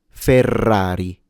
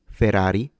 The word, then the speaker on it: Ferrari: Ferrari. Ferrari. No one says it that way. So when you have double R, it's a stronger trill of your R, fully showing off your rolled Rs.